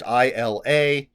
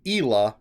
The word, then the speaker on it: Isla: And in the first chapter with Isla, which is in third person, it says one of the characters pronounced her name Ela, and that was incorrect. So hopefully Isla is the correct way.